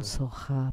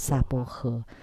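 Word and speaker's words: स्वाहा: Incidental soha, but in Chinese they chant it as sapohe. And then later we discovered that we can just chant soha, which is closer to the Sanskrit original.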